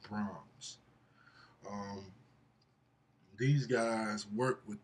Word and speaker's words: Brahms: Beethoven and Mozart, and I believe it's pronounced Brahms.